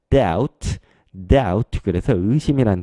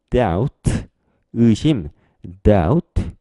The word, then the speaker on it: doubt: 그래서 B 발음을 하지 않고 뒤에 T로 바로 넘어가는 거예요. 그래서 doubt 그래서 의심이라는 뜻인데요.